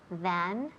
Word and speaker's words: than: So is there less sand in your house than in the desert. And remember the pronunciation of than. Than. Es TH, hay que sacar la lengua un pelín y soplar.